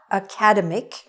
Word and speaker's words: academic: word it is not academic it is haka demmick the stress is on the middle academic this is an